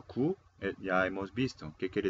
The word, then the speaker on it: 구: Bien, entonces vamos a mirar qué significado tiene en coreano. Vamos a pronunciar ip.